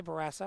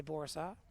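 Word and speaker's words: Bourassa: I say Barassa. I suppose I could say Borassa, right? That's the proper pronunciation.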